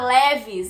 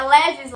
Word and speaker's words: Levi's: Bom, como vocês estão percebendo, não se pronuncia Levis, e sim Levi's. Levi's. Enfim, é Levi's, é bem diferente.